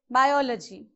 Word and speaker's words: biology: So again check for the syllables. Biology. You have 4. Okay, so from back third one. 1, 2, 3. So you have to place the vertical bar before O, in between I and O.